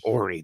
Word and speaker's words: Horry: I thought it was Horry County, like a whore. There are some whores here, but it's actually Horry. The H is silent.